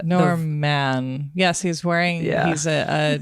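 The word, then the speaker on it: Normman: called Norma and Norman so Norman is spelled n o r m m a an so all one word and you kind of maybe already get the norm man yes he's wearing he's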